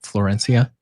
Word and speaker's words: Florencia: Florencia.